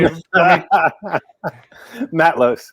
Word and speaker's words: Matlosz: But first and foremost, let me welcome director Jason Tobias and cinematographer Jimmy Maltos. Gentlemen, how are you doing? I said it wrong. Say it for me. Matlosz.